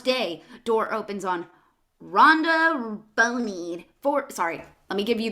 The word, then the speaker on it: Boney: door opens on rhonda boney sorry let me give you the appropriate name girl rhonda bonnie there you go 40s no it's rhonda boney don't what what okay